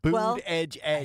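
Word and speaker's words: Buttigieg: monkey pox maybe we should ask Pete Bud boot Edge Edge I had to do it boot Edge Edge he has an unpronouncable name it's boot so uh former the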